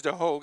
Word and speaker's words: DeHoog: The senior taking on a sophomore, Gavin DeHoog. I think it's DeHoog, actually, is how that's pronounced.